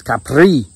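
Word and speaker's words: Kapre: Capri in the Philippines to say it properly I've got hell about this from people in the Philippines for mispronouncing that's Capri hey man I can't roll my tongue um so and you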